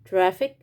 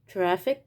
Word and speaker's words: traffic: وبرضو لو حرف السي اجا في نهاية الكلمة، في آخر الكلمة، بننطق حرف السي كاف أو كا، زي traffic، traffic، أو picnic، picnic. حرف السي جاي في آخر الكلمة هنا وهنا، اتنطقت كا. traffic، picnic، traffic، picnic.